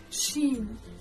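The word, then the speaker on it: شين: The next letter we learn is shin. This one is pronounced just like the English sh in the word shovel.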